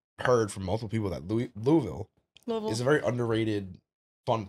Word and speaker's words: Louisville: Louisville? That's how you say it? Louisville? Louisville. If I say Louisville. No, you don't say it like that.